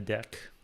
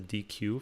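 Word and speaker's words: deque: it and or as python calls it a deck which I used to pronounce as DQ for a long time it's like because there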